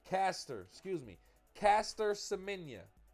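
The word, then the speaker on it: Caster Semenya: With that being said, this is uh uh Cortis Semenia. Did I say her name right? Did I say her name right? Let me put some respect on her name. Caster, excuse me. Caster Semenia, it's her name from South Africa.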